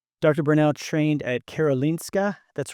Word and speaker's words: Karolinska: Bernow trained at Karolinska, that's right?